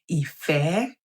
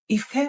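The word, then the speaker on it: ìfẹ́: placed upon these words, this way is pronounced Ife, Ife. Ife means love. Ife, because it is do, me. Remember that whenever you see this mark, it is pronounced do. And whenever you see this mark, it is pronounced me. And so, Ife, do, me, Ife, do, me.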